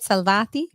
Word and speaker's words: Salvati: I didn't get a chance to ask about your partner, Michele Salvati. Did I say it right? Salvati? Perfetto. Oh, beautiful.